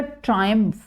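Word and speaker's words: triumph: ट्रिम्फ, ट्रिम्फ या ट्रायम्फ दोनों pronunciation इहदियां ठीक है, वैसे इंग्लिश के अकॉर्डिंग ट्रायम्फ सही हुंदी आ, पर आप नॉन नेटिव्स है पर ट्रिम्फ भी कह दीए तो दैट इज ओके।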